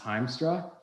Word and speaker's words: Hiemstra: by my name heemstra but my last name spelt like it's pronounced heimstra yamstra i know i always